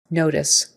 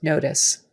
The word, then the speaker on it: notice: syllable is like tis tis with a short I even though there's an e on the end and typically when there's